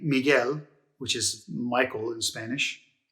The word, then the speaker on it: Miguel: that person's name is miguel cervantes hi it's me from the future i just wanted to point out one of the vowel pronunciation exceptions right here this u is actually silent exceptions are rare but